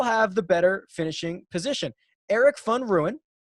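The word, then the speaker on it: Erik van Rooyen: the better finishing position eric fun ruin i believe is how mark told me i pronounced that and dylan fratelli or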